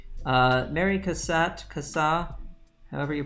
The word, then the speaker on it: Cassatt: is indeed mary cassatt mary kassa i'm gonna say cassatt because she is in fact an american artist and so i believe that's probably how you pronounce it but i don't honestly know i should probably look that up and it is indeed